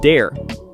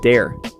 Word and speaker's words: dare: The word dare, we say it dare, not dar. Dare. It has that air sound.